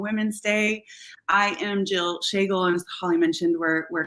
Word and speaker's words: Schagel: Yes, that's how you pronounce her last name is Schagel.